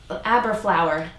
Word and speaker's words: Aberlour: flour that's a given a bur flour it rhymes with hat tower everyone knows what a hat tower is well there I think it was a dr.